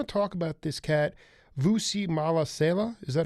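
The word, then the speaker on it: Mahlasela: So you have to infuse the real but I want to talk about this cat, Vusi Malasela. Is that how you pronounce the name?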